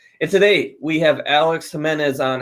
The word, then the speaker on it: Jimenez: mortgage accelerated podcast and today we have Alex Jimenez on how you doing Alex I'm good thanks for pronouncing my last name right yeah yeah but